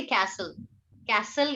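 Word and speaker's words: castle: कैसल, यू कैन से कैसल या fort. किला, दुर्ग, गढ़, इसको क्या बोला जाता है? कैसल या fort. Fort. कैसल, T silent, कैसल या फोर्ट।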